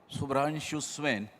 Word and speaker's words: Subhranshu Swain: So now I call upon my first panelist, Dr. Subhranshu Swain, correct? Yes, properly pronounced.